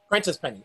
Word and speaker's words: Prentice Penny: I didn't like it as much as you did, but I understood that his name is pronounced Prentice Penny, right? Prentice Penny.